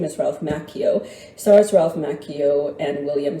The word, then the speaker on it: Macchio: Yes, it's pronounced Macchio, according to him. To put it bluntly, you don't say Pinocchio, you say Pinocchio. So his name is Ralph Macchio.